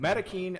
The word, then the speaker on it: Maroquin: Marakin, I think, is the appropriate way you should say it. You're supposed to roll your Rs out, actually. Marin. Maroin. But Maroquin reminds me of Dairy Queen.